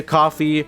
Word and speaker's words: Ko-fi: always send me a coffee or a donation, anything similar on the Ko-Fi. You know, it's called a Ko-Fi. It's actually pronounced coffee because, you know, buy me a coffee, whatever.